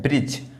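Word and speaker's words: bridge: ब्रिज। इसको क्या पढ़ते हैं? ब्रिज। ये डी को देखिए बिल्कुल भी बोला नहीं जा रहा है।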